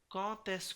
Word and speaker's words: quand est: après quand et comment, যখন ক এবং কম থাকবে তখন আমরা লিয়েজন করব, যেমন ধরুন, এবং এই ডিটাকে ত উচ্চারিত হবে, যেমন ধরুন quand est-ce que, কি হবে এটা